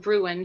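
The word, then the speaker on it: Sara Gruen: really moved by was, I think you pronounce it Gruen, Sarah Gruen, Water for Elephants.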